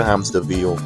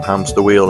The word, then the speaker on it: Hamsterville: Hamsterville. We get the first use of the running joke he has, where his name is mispronounced and somebody calls him Hamster Wheel instead, which I guess is